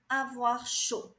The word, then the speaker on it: chaud: Avoir chaud. Avoir chaud. The D is mute. You do not pronounce the D.